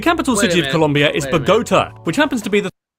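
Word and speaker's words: Bogotá: You mean Bogota? Yeah, Bogota like Bogota, like pagoda. Like, okay. Uh Yeah. Yeah, go go there saying it like that, you'll get relocated real quick.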